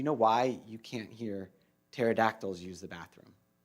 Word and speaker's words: pterodactyls: why you can't hear pterodactyls use the bathroom because the P is silent.